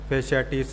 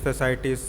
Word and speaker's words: fasciitis: फैशियाटिस, फैसाइटिस, अलग अलग pronunciation हो सकती हैं, लेकिन मेन वही है जो मैंने बताया आपको।